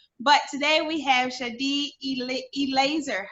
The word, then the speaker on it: Eleazer: But today we have Shadi Eleazer. How do you say that? Shad Laser, yes. Eleazer.